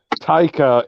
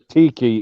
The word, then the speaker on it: Taika: But Taika isn't pronounced Tiki either, so.